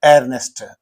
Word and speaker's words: Earnest: this story that is earnest okay see the spelling of that Earnest so this is know Earnest a a is not being silent here it is being pronounced you say earnest Ernest Hemingway Ernest bul